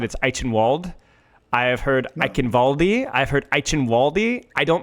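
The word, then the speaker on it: Eichenwalde: I have heard Ivaldi. I've heard Waldi. I don't know how to pronounce it.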